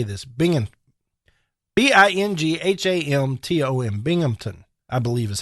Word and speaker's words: Binghamton: Binghamton.